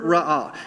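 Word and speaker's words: ראה: And I'm not even going to try to explain how to read the top thing, but the best way to pronounce both of these root words is sur ra'ah.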